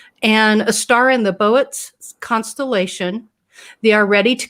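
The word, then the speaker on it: Boötes: the constellation, let's see, they pronounce it Boets. Trina? Boets. Thank you. Yeah. Yeah, Boets. They have those two funny little marks at the top. Are you serious? I always called it boots.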